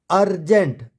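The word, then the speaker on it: urgent: सी क्या है consonant अर्जेंट अर्जेंट में यू से स्टार्ट हुआ और उसके बाद आर और जी क्या है हमारे कंसोनेंट है यहां बन गया अर्जेंट urban unless up hold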